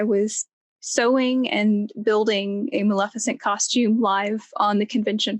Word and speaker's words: Maleficent: You created a Maleficent. Did I say it right? Yes. All right, Maleficent costume.